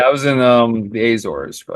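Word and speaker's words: Azores: said the Azor because when I first saw it on paper I thought it was a zores but it's the Azor yeah they speak Portuguese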